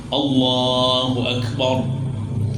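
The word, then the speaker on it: الله أكبر: itu kan berjwiid tuh Allahnya dibaca tebal ya kan jangan allah nah itu k tebal itu Allahu akbar rnya dibaca tebal ya Allah akbar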